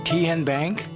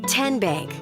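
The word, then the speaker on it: TNBank: How do you say the name Khen Bank? Nope. Ken Bank. Uh-uh. So, what is it? Tenbank. 10 as in Tennessee.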